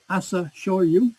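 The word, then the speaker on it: Asashōryū: I suspect it's Asa Shoryu, so long vowels. Can you spell that with that second word? Okay, Asasho with a bar above it, Ryu with a bar above it.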